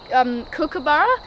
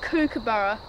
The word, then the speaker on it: kookaburra: That's a kookaburra, and people they pronounce kookaburra wrong, so you actually got to pronounce it correctly, because people just say kookaburra, but it's actually pronounced kookaburra. You'd be cuckoo to get it wrong.